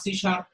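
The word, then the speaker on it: C#: Microsoft company তৈরিকৃত visual basic visual programming উদাহরণ, যেমন visual সি plus plus, Java, সি শার্প, এখানে সি হ্যাট যেটা সেটা সি শার্প উচ্চারণ করা হয়, সি শার্প, এগুলো হচ্ছে আমাদের বিভিন্ন ভিজুয়াল প্রোগ্রামিং এর উদাহরণ।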